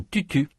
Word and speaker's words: tutu: Marie-Laure a un tutu. Tante Georgette a un toutou. Notez que les voyelles dans tutu sont très différentes des voyelles dans toutou. Vous allez entendre des phrases qui parlent soit de tutu, soit de toutou.